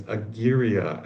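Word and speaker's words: agyria: Another word I I was considering is a gira. I'm hoping I'm pronouncing that right. A g y r i a to the a of aware.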